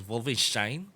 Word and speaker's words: Wolfenstein: you know games like Wolfenstein actually that the actual pronunciation of offices is vulva shine boy all I can